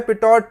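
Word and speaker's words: Pitot: हाँ, उसका नाम है पीटो ट्यूब. पीटो ट्यूब, पिटॉट ट्यूब नहीं है, पिटॉट ट्यूब नहीं है.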